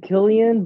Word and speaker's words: Cillian: I thought he said Killian, but, to each their own. If I fucked it up, I'm sorry, Cillian. But I'm pretty sure it's Killian.